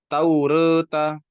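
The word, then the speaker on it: توراة: Taklil itu apa? Membaca harokat fathah dan kasroh, namun lebih condong kepada fathah. Kalau imalah lebih condong kepada kasroh. Makanya bacanya taureta, taureta, ya, taureta.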